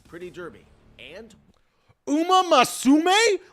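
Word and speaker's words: Uma Musume: The way Jeff Keley pronounces Uma Musame is hysterical to me. He adds an extra A.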